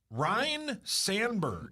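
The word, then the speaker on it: Ryne Sandberg: Ryan Sandberg. Isn't that how you say it? Good answer. It's not Ryan, it's Ryan.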